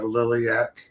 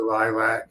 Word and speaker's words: Lilac: I mispronounced it last week. Something I deeply regret. And I'll punish myself. I kicked myself in the balls for weeks for calling it Liliaak. But it was the Lilac Comic Con in Spokane, Washington.